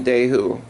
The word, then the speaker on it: Dehu: We are in Dehu, is how you say it, where Tuka lived.